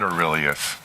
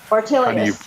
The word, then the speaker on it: Ortelius: to mispronounce it, but it's not Aurelius. Ortelius. Ortelius. Aurelius is something else, but the Ortelius project.